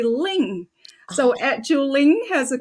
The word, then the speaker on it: Linh: My name is spelled as L I N H and in the US people would call me but in Vietnamese it's actually Ling.